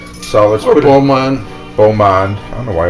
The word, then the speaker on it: Beaumont: want to say blue I think it's Bo when it's b e a is it b-e-a-u how do you spell it b-e-a-u-bo oh Bo yeah like a boyfriend so okay here we